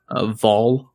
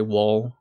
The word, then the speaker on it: Wahl: Yeah, well, in Swedish you actually pronounce it as a V, so yeah. Vol, but okay. But most Americans would say Wahl.